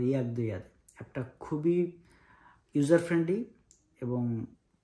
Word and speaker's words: Jakdojade: ইংরেজিতে আমরা উচ্চারণ করলে বলবো হচ্ছে জাগদো যাতে যে দিয়ে, কিন্তু ওরা এটাকে উচ্চারণ করে ইয়াগদো ইয়াদ।